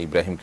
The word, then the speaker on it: ইব্রাহিম: নিয়ত থাকে এটার কোন সমাজে আপনি আছেন সেখানে ইব্রাহিমকে মানুষ আব্রাহাম বলে তাহলে সেটি জায়েজ হতে পারে কিন্তু আপনি যখন এটার শুদ্ধ উচ্চারণ ইব্রাহিম কোরআন কারীমের আয়াত আপনি জানেন তাহলে সেক্ষেত্রে এটাকে পরিবর্তন করে আপনি আব্রাহাম রাখবেন না বরং আব্রাহামটাকে আপনি যেটি রেখেছেন এটাকে